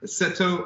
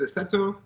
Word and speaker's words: Aceto: people know it's really Aceto, but I say Aceto. So I can't give you a hard time for mispronouncing it because I don't think I pronounce it right.